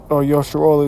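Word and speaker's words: ישראל: Yaquab, Yasharal is how you say Jacob and Israel in the Hebrew.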